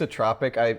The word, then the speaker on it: isotropic: It's isotropic. I was not sure in the pronunciation, and I also when I looked at